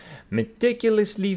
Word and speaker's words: meticulous: Stress is on the second syllable. Meticulous. And the British? Meticulous. The same.